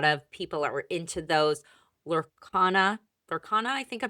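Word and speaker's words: Lorcana: I know a lot of people are into those Lurana Lurana, I think I'm pronouncing it right. Right. Yep. Lurana.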